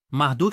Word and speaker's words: Marduk: da cidade da Babilônia marduk é o nome comummente associado à divindade nos tempos modernos no entanto Na verdade era pronunciado marut na Babilônia os estudiosos acreditam que